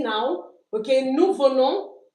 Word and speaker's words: venons: Nous venons. We don't pronounce the s.